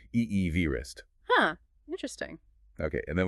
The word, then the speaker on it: Everest: And it's kind of funny the way we pronounce Everest today, it's different from how Sir George himself pronounced his name. Oh, really? Yeah. His pronunciation was closer to Eevee vistrist.